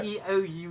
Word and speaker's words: Keough: Q, like Q, yeah. Keough. It's a weird pronunciation.